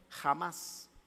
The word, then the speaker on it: Hamás: jamás ha oído de hamás pero con h no con jota y se pronuncia la h como jota jamás es volar a oído